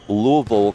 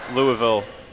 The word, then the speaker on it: Louisville: A Louisville, Kentucky native. Folks from Louisville, I know there's a certain way to pronounce it. Louisville. Louisville.